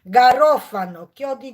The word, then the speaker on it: garofano: s Goździków s Goździków goździki po włosku to garofano garofano kto się uczy że się tak wymawia nie mówimy garan tylko garan garan na